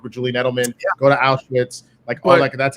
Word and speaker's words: Auschwitz: The fact that he is trying to work with Julian Edelman, go to Auschwitz, that's how you say it, by the way, Rocha.